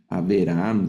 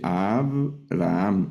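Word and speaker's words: אברהם: Debajo de la beta hay un sheva, pero aquí no se lee, no leo Aaam, Aeraham, sino que únicamente Abraham.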